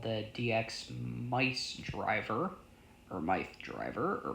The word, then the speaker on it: Myth: is called Kamen Rider Mice. While it might sound like it's supposed to be pronounced Kamen Rider Myth, it's actually mice for whatever reason.